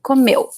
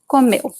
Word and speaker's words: comeu: So really, the stress is this little letter here. Comeu. Comeu. The U at the end is very weak.